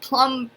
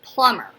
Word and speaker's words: plumber: Did you hear the B in plumber? I don't. It's not plumber. It's plumber. Like, that could be another M. So if that's a silent B.